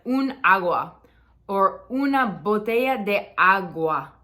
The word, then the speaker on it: agua: agua or una bote agua agua not agua agua right so it's a little subtle distinction between where we're emphasizing the word um fear okay this